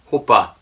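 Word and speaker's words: 호빠: In Korean pronunciation, it's like hopa. It may sound like oppa, but they're totally different.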